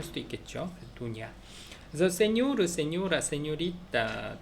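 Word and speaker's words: doña: 도냐. 그래서 세뇨르, 세뇨라, 세뇨리타, 도냐 할 때 n에 앞에 위에 물결이 있어요. 그래서 세뇨르, 세뇨라, 세뇨리타, 도냐 뭐 이런 식으로 발음을 한다.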